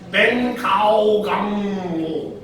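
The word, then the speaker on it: 本草纲目: Or, sa Chinese, ang pronunciation niya ito, Ben Kao Gang Mo.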